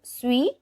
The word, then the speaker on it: suis: So usually this word suis is pronounced as suis. Only when it is followed by vowel, that S gets pronounced as Z. So it becomes je suis. Otherwise it is je suis.